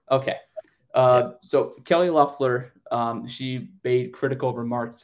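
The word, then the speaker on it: Loeffler: sorry yes um Kelly how how do you say your last name again luffler okay uh so Kelly loffler um she made critical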